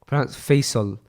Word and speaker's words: Faisal: In Arabic, someone told me that my name is pronounced Faisal. Yeah, like fair.